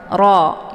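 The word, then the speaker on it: ر: ya untuk hukum bacaan rnya dibaca tebal yaitu ee dengan posisi lidahnya terangkat ke langit ro Ya Roh Jadi kalau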